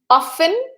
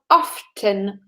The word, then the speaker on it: often: Often with a silent T or often with the T, that you can hear it.